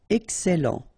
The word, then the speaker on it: excellent: Okay, you've got double L here, and then it will open the sound of your E here, and it will be E. Excellent.